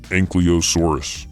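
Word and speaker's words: Ankylosaurus: JK we just get a close look at anky losauro of armored dinosaur and last episode people wanted to make fun of my pronunciation so this time I'm going to make sure I do it right anosa surus it has been said that anky has become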